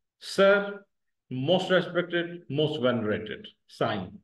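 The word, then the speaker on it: سائين: Most respected most venerated, sign इस तरह से प्रोनाउंस किया जाएगा, साइन, अंडरस्टैंड।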